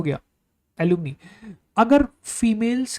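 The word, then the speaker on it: alumnae: The word is gonna be एलुमने, ठीक है, एलुमनी। अब ये जो वर्ड है इसकी स्पेलिंग नोटिस करना, ये फीमेल्स के लिए यूज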